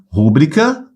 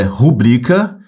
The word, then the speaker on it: rubrica: a pronúncia não é rúbrica é rubrica ela é uma paroxítona Tá bom cuidado com